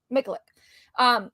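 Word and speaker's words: Miculek: How do you pronounce it? Mikulik.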